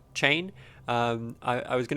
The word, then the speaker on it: Chane: in the latest set so i'm pronouncing it chain um it seems that there's a little bit of discrepancy in the community about how it's pronounced but i'm going with chain um i i was